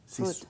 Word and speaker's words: Ruth: Di So, Ruth. Route. Ruth. Ruth. Se pronuncia igual.